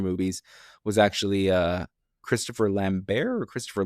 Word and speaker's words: Lambert: was actually uh Christopher Lambbear or Christopher Lambert. I'm not sure how to pronounce his name. I believe it's Christopher Lambbear is how I heard.